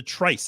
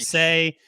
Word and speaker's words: Trice: And there was some debate over how to pronounce the Trice. I remember at one point Yes. that people were trying to say it was Trice. Trice, Oh, and it's like, yeah.